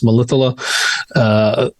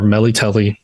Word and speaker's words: Melitele: Most popular and most widespread religion in the kingdom is the worship of the goddess Melitele, or Melitele, depending on how you want to pronounce it.